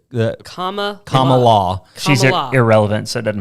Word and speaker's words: Kamala: It's comma. It's like the comma law.